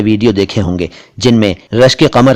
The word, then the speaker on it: रश्के कमर: रश्के कमर का सही उच्चारण है रश्के कमर, कमर नहीं, कमर कुछ और होता है। यह है कमर।